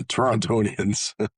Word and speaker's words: Torontonian: Yeah, Torontonian.